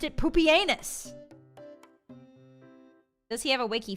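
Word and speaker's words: Pupienus: That's the That's the Greek That's the ancient Roman way of saying it. It's not puppy. They pronounced it poopenus.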